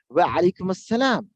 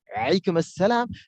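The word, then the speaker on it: وعليكم السلام: Wa alaikum assalam. Wa alaikum assalam. Now see, Arab person and non-Arab person, how they say. The Arab person, wa alaikum assalam. Wa alaikum assalam.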